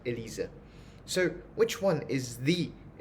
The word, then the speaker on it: Elise: a little proof because this e-l-i-s-e is pronounced as Elisa in German so the three tones